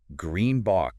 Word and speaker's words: greenBOX: we're talking about eates Green Bo yeah pronounced like green box by the way exactly